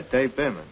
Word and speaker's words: Bierman: I sent it to a man named Dave Bierman in Chicago. Dave Bierman. Chicago? How do you spell it? B-E-E-R-M-A-N? No. B-I-E-R-M-A-N. Oh, yeah, Dave Behrman.